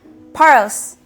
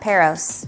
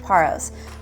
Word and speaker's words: Paros: what's goody and welcome to paros paros not peros do not say peros in paros it is pronounced paros we're at the airport now if you saw